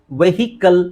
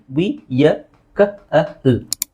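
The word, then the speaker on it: vehicle: bowl okay now ಇದನ್ನ ಬಹಳ ಜನ ನಾವು ವೆಹಿಕಲ್ ಅಂತ ಹೇಳ್ತೀವಿ ವೆಹಿಕಲ್ ಆಕ್ಚುಲಿ ಅದರ ಸರಿಯಾದ ಉಚ್ಚಾರಣೆ ನೋಡಿ ವಿಯ ಕಲ್ ವಿಕಲ್ ಇದು ನೀವು ಐಪಿ ಕರೆಕ್ಟ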